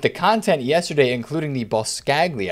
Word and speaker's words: Boscagli: content yesterday including the boss scagli i think that's how you say his name the uh oliver olivier